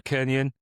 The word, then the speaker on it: Kernion: I'm absolutely delighted today to be joined by Kernion. I pronounced that right? That is, yes, correct. Yeah. Yes. Happy days. French roots. You can do the Kernion if you'd really like to, but Kernion works.